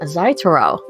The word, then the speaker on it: Zaitohro: joined by yet another brand new voice welcome zaitaro thank you i appreciate you having me did i actually pronounce that correct now yes you did you